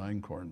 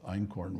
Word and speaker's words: Einkorn: wheat by the way in corn is spelled einin which in German means one EIN that I fear f sex even saying yeah I is one and corn is spelled k o RN I think that's how I used to spell it in school well sounds like that corn so in corn means